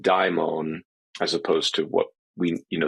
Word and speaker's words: daimon: So that is the old transliteration of the Latin transliteration of the Greek, which preserves the original diphthong die in daimon, as opposed to what we, the English version of this demon is downstream of it.